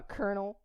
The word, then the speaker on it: colonel: Can you believe I'm a colonel? She's so mad. See, there are some advantages. Why they spell it like that and pronounce it like this? Colonel.